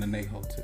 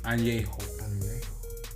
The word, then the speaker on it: añejo: And by the way, the correct pronunciation, because I was saying anejo too. Yeah, I would. It's añejo.